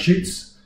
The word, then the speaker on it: Schütz: Heinrich Schütz, Schütz that is, U with a normal out.